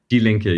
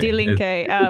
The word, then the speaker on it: Die Linke: Is it Die Linke? Die Linke, yes, exactly. Die Linke, which translates to the left.